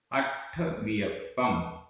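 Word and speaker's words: अट्ठवियप्पं: णाणम णाणम अट्ठवियप्पम अट्ठवियप्पम आधा ट ठ अट्ठ वियप्पम आधा पा पूरा पा अट्ठवियप्पम मदि सुदि ओही मदि सुदि ओही।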